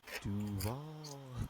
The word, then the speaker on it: Duval: You didn't pronounce it right. It's Duval.